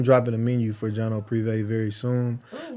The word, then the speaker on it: Privé: Privé. Privé.